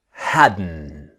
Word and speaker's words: hadn't: end of wasn't wherein hadn't the t is silent okay so let's start our practice now remember the pronunciation is hadden the t science hadn't